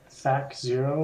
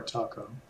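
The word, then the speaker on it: THAC0: Is it pronounced Thac Zero or Taco? I've always heard Thaco.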